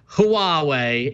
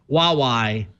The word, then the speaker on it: Huawei: But if you zoom in at the bottom of the first answer, it says, although the Mandarin romanization is normally pronounced Huawei, HWA-WAY, the Cantonese pronunciation is more like Huawei.